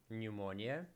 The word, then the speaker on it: pneumonia: pneumatic and pseudonym okay what letter is not pronounced psychologist pneumonia pneumo and pseudonym noon psychologist no um neotic pumo silent one letter is silent no the first letter okay maybe I I